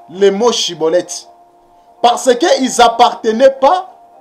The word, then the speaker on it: Schibboleth: le groupe des galadites donc si tu n'arrives pas à bien prononcer chibolette tu prononces siibolette cela veut dire que tu es un étranger ça veut dire que